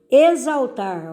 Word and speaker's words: exaltar: Exaltar, ó, exaltar, escreve com X, mas o som de Z.